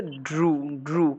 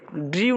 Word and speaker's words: drew: এই ওয়ার্ডটার সঠিক উচ্চারণ হচ্ছে ড্রু। কি ড্রু? মনে থাকবে? ড্রিউ না, ড্রু, কেমন? মনে থাকবে?